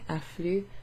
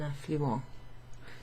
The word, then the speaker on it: affluent: then also we have the same spelling affluent, where you don't pronounce the ENT. Les poissons affluent à un affluent.